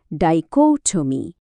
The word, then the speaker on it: dichotomy: চলেন একসাথে উচ্চারণ করি। ডাইকোমি। আর একবার ডাইকোটমি শব্দটা আরেকটু সহজে বোঝার জন্য চলেন মিনার গল্পটা শুনি।